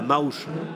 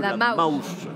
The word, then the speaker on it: Maouche: un autre une autre spécialité qui est la Maouche ça s'écrit M a o u C H e la Maouche la Maouche ça c'est dans la montagne ARD